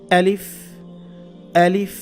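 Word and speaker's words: ألف: আচ্ছা, তাহলে আলিফের উচ্চারণ যদি হয় আ, তাহলে আলিফটা বলতেও হবে এইভাবে, আলিফ, আলিফ। এটা খেয়াল রাখবেন, শক্ত করে বলতে হবে। হলকের শুরু থেকে, হলক মানে কণ্ঠনালী, কণ্ঠনালীর শুরু থেকে এটা আনতে হবে।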